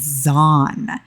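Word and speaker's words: Xon: She did have the baby Githboy egg hatch, and his name is Zon. It's spelled with an X, but pronounced like with a Z, so that I did get confirmation in-game dialogue for.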